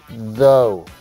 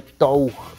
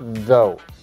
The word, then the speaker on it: though: Vimos la clase pasada, este though, que se pronuncia así, though, ¿ok? No vamos a pronunciarle tough, ¿no? Sino though.